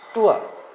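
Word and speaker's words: tour: हमन टूर में जाते हैं, टूर, जबकि इसका उच्चारण है टूआ। बस आर तक पहुंचना ही नहीं है, इसका उच्चारण है टूआ।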